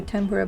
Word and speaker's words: tempura: there fun language fact in Japanese it's temperate which romanizes to tempura but it was always spelled tempera in the states for some reason even though the sound is much closer to an N than an m anyways